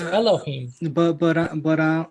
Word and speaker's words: Elohim: They pronounce But it as Elohim.